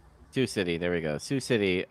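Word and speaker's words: Sioux City: How do you say that in Iowa? Sue City. Sous City.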